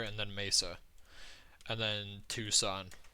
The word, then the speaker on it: Tucson: Oh, that's just Chandler and then Mesa and then Tucson, which as a kid I always pronounced Tucson as Tuxen. Um, I was pretty surprised when I found out it's not pronounced Tuxen. Funny story.